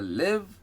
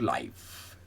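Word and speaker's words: live: आई वी ई नाउ एल आईवी ई कैन be pronounced आइ there लिव और लाइव लिव या लाइव हम पहले देखते हैं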